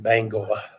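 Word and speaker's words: Bangor: was teaching Air National Guard base up in Bango gotta say it right yeah I like it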